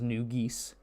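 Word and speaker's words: New Ghis: Cities like um Yria and Tollos and Nugis, also known as Nugis, that's the official pronunciation now. It's geese.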